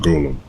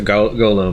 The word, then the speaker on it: golem: gold to become gold golem actually I don't know I've always pronounced it go low but I've heard golem as well strong golem with strong